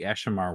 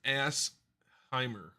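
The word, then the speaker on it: Asshimar: You have They do have the the Ashimar, which I'm pronouncing wrong. I don't know how to pronounce Ashimar. It's assimer. That's if we can call it that.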